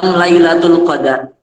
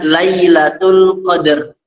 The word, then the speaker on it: Lailatul Qadr: bahasa Arab itu disebutnya Lailatul Qadr Kalau bahasa Arabnya itu Lailatul Qadr kalau kita di Indonesia mungkin kesulitan membaca Lailatul Qadr sehingga kita bacanya lailatul qadar tapi kalau yang benar